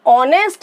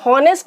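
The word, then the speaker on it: honest: अब ऑनेस्ट में हम हॉनेस्ट नहीं बोलते हैं क्योंकि एच हमारा साइलेंट होता है, एच को हम नहीं बोलते हैं, ओ बोलते हैं, ऑनेस्ट।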